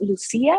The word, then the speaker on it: Lucia: before we get started my name is uh pronounced lucia because it's the spanish way i know there's like